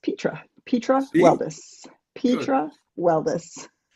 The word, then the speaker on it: Petra Weldes: And it's pronounced Petra. Petra Weldus.